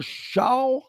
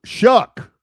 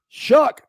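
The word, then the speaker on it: Shough: Tyler Sha. No, Shuck. Shuck. Tyler Shuck. How do you get Shuck out of sh?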